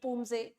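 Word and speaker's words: Poomsae: medal in the individual Pumase under 30 category. So, or say Pumse as we call it, the pronunciation Pumse.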